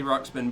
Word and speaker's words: Ruxpin: I do remember Teddy Ruxpin, but was it Teddy Teddy Rocks. Ruxpin? So I saw somebody spell it differently earlier, See, like Teddy RUXPIN.